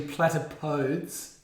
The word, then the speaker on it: platypodes: While you while you were unsure about how to say the plural of platypus, it's actually platypodes.